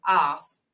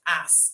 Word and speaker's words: arse: And I hope, Jason, you appreciate the pronunciation of arse, not ass, as we put an R in it.